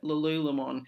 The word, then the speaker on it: Lululemon: and lul LOM now I know a lot of people in Australia call it Lululemon uh it was actually originated in Vancouver in Canada and from what they say over there and how they pronounce it it's lulon so if you didn't know